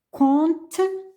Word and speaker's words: comptent: Les élèves comptent les gazelles. Je ne prononce pas P, la interpique.